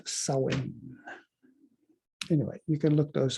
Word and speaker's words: Samhain: fall and winter solstice it's samhain or pronounce sowing anyway you can look